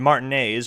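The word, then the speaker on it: Martinaise: And most of the locals, in Martinez, which actually is the correct pronunciation, at least according to the voice acting,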